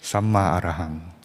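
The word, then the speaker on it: Sammā Arahaṃ: It means, it's pronounced like this. Samma Arahang. Like that. Samma Arahang.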